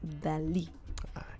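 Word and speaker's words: Dalí: lis oh dolly yeah well the pronunciation in spanish is salvador dali right so pablo picasso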